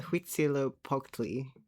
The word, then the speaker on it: Huitzilopochtli: Okay, I think he's mispronouncing they don't usually do a CH sound, but Huitzilopochtli.